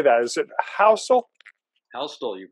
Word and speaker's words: Houstle: Houstle, you pronounce it. Houstle, okay. The T is in there.